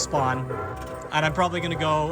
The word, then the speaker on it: スポーン: offered it to us, it was translated to spoon. There's no official translation, but if you watch any of like the official Bandai Namco videos, the pronunciation they use is spawn. So, can only assume it's spawn.